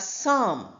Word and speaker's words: psalm: Here are six words where P is silent.